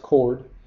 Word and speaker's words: chord: chord but that's not how it's pronounced it's pronounced chord and it's just a line segment whose endpoints